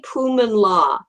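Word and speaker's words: Pui-Mun Law: Stephanie Pumanlaw. Poo is spelled P-U-I. M-U-N and L-A-W for law, or sometimes she just goes by Stephanie Law.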